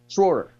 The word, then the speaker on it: Schroer: Why do you add an I in his name? There's no I in Schroer. Say his name. Schroer.